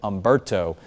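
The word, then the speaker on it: Humberto: And then eventually we'll get into the second column of names, which is going to start with Umberto. The H is silent on that name.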